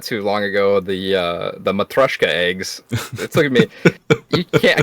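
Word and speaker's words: матрёшка: You gotta say it somewhat with a Russian accent for it to come out properly. Gotcha. Okay. Matryoshka.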